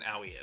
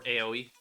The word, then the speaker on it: Aoi: But I also don't believe it's available as early on as an Owie is. Or AOE, however you want to say it. It's spelled AOI.